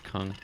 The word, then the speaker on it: Kung: It's Kung. Kung. Yeah. Kung. Say it, Kung. Kong.